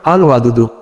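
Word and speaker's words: الودود: উচ্চারণ আল ওয়াদুদু।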